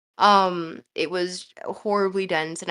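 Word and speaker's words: Noumena: I know it's pronounced Numina, but it's not. I call it Numina.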